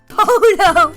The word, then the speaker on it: Polo: name is marco and his surname rhymes with solo marco polo that's right you remember